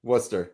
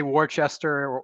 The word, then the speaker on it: Worcester: Worcester. Yeah. Worcester. Yeah. Yeah. If you say Warchester or Worker, you're just going to get laughed at in mass. It's Worcester.